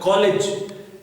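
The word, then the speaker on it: college: But if you see, अगर आप इस वर्ड में देखें तो कॉलेज, यहाँ पर g जो है वो साउंड प्रोड्यूस कर रहा है j साउंड की. और जो तीसरा हमारा वर्ड है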